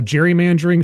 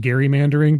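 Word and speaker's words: gerrymandering: uh the term uh Jerry mandering should actually be pronounced Gary mandering because that's how the guy's last name was actually just just a weird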